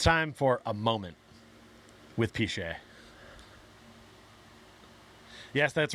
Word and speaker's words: Pichet: My last name is actually Pichet. That's full government, by the way. And we shorten it to Piche. That's what everybody calls me, is Piche, but it's actually Pichet. Rhymes with Dante.